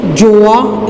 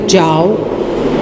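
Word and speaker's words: Gjøa: It can be Joa, it can be Jao, it can, but the G is silent, it's J sound.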